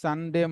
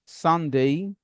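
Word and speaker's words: Sunday: কোন ইংরেজি শব্দ এ ওয়াই দিয়ে শেষ হলে এ ওয়াই এর উচ্চারণ হবে এই। ফর এক্সাম্পল স্যাটারডে না সানডে, মানডে, টুয়েসডে, Wednesday, Thursday, Friday না।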